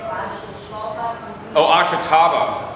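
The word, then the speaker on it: Ashitaba: Oh, ashataba. How do you spell it?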